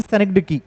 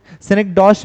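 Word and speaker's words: synecdoche: सेनेक्डॉश भी इसको अमेरिकन में कुछ लोग कहते हैं, बट सेनेक्डकी जो है करेक्ट प्रोनाउंसिएशन है अगर फोनेटिक्स में भी पूछा जाए तो।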